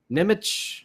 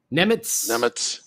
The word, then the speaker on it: Nemec: Is it Simone Nemec or something like that now? Nemitz. I think we were saying it wrong. Nemitz.